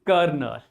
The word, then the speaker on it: colonel: L is present but sound is not present. R is not present but sound is present.